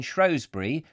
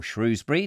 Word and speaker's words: Shrewsbury: Reminds me of when I used to go up and see my friend Harriet, who lives in Shrewsbury, or Shrewsbury, depending on how you want to pronounce it, in Shropshire.